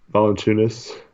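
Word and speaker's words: Valančiūnas: Oh man, say Valanciunas. Valanciunas.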